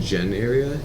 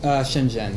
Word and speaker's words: Shenzhen: here and there interesting you said near vision Jen area is that how you pronounce it or yeah Shenzhen yeah it's yeah essentially in the Guangdong province